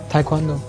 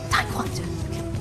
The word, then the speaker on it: taekwondo: I can't pronounce that karate martial art form thing that you do. How do you say it? Taekwondo. Taekwondo.